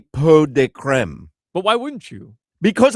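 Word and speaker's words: pot de crème: Pot de creme. Pot de creme. I mean, that's the way you pronounce it.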